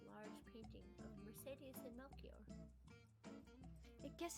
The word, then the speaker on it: Melchior: I guess it is Melchior. I've always read it incorrectly, because I always called him Melicor. Melicor? Mm-hmm. Melchior. works. Melchior. I just read that as Melchior because that's how I think it's spelled in Spring Awakening.